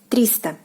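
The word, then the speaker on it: триста: 300 is 300. 300. 300. The end stress falls on the first syllable.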